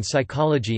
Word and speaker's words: psychology: Examples include the B in doubt, debt, dumb, etc., the P in psychology and pneumatic, and the commonly encountered silent E discussed further below.